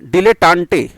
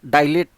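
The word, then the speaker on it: dilettante: ये जो वर्ड देख रहे हैं इसको डाई नहीं पढ़ेंगे, डी पढ़ते हैं, डिलेटांटे। Right pronunciation is डिलेटांटे, नॉट डाइलेट, ऐसा नहीं पढ़ना, डाई करके नहीं, डी से उच्चारण लेते हैं, डिलेटांटे।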